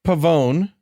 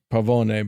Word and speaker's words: Pavone: so Frank P Frank Pavone I always want to pronounce it Pavone but it's Pavone uh kind of got